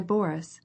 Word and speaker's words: Boris: me Prince about my Boris she said as she followed him she pronounced the name Boris with the accent on the first syllable I cannot stay any